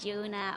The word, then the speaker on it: Jorunna: Flip the R and Jorunna.